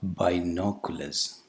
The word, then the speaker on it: binoculars: The initial vowel sound is not a diphthong, it's not I, it's a monophthong, E, B. And the second vowel sound is not U, it's a combination of a consonant and a short vowel, U plus A, U plus Schwa, Binoculars, Binoculars.